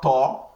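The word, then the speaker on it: ط: So we also have ta and we have the. So this is ta. Ta. This ta now, the way it is pronounced, it is heavy from the throat.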